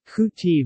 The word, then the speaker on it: kuy teav: In Khmer, khu teav is properly pronounced IPA, KUJTI, but is often elided to IPA, KTI, romanized as K. Tiu, KTU, KTIV, etc., due to the sesquisyllabic nature of the Khmer language.